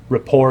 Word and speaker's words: rapport: that begins with rapport rapport is spelled r a r-a-p-p-o-r-t the t is usually silent and it's i i